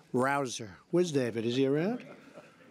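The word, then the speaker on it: Rouzer: nice David Rosa hey you know how you pronounce it rabble rouser you go David rouser where's David is he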